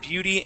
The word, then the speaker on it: beauty: Okay, give me a good B sound. B. Beauty. Beauty. Okay, one more time. Beauty. Beauty. Beauty. Good. Okay, now, whenever you see that letter, remember how it felt to pronounce that B.